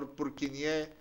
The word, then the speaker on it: Purkinje: bundles break up into the so-called Purkinje fibers, or Purkinje if you follow the French way of pronouncing it.